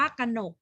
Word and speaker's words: กนก: ตลิ่ง อ่าน ว่า ตลิ่ง กนก อ่าน ว่า ขะ เหนก เหมือน กัน ค่ะ นี่